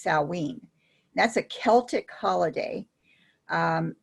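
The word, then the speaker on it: Samhain: derived on sam salween which is spelled s-a-m-h-a-i-n but you say it's sallween that's a celtic holiday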